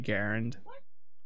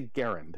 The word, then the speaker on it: Garand: Garand, Springfield, Massachusetts. And the section of the letter he has enclosed says, so, an initial G hard, as in go, first A short, as in Harry, second A somewhat more